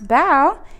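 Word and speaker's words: bao: Oh, look, if you want to know how to pronounce bow, it's like bow, like you're bowing to someone, not like a bow.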